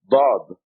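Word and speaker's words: ضاد: Dad. Da. As a matter of fact, Arabic is the only language in the world that has this letter, a heavy D. They call the Arabic language the language of the Dad, because it is the only language that has this heavy D, Dad.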